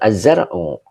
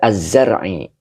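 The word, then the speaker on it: الزرعِ: Bukan az-zar'u. Dibaca az-zar'i. Ya, li adamiz zar'i. Begitu bacanya.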